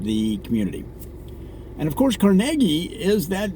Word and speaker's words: Carnegie: I believe it's pronounced Carnegie as in Carnegie Mellon University so if I had